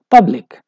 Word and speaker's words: public: For example, if we pronounce it without this ity, we say public, and in that case, p is stressed.